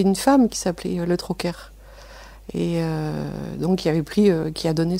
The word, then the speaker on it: Troquer: Troquer. C'est le côté breton, on prononce donc le R.